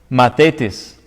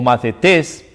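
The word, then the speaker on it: μαθητής: griego es la palabra mates mate test se puede pronunciar como una th o como una de mates mates o más de test porque tiene una tilde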